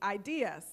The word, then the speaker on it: idUS: to make sure you know how to correctly pronounce the word so with that everyone repeat after me ideas all right you're well on your way so